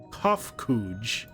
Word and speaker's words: Kofkuj: As for nomenclature, to address my individual person, I believe it would be pronounced Kofkuj.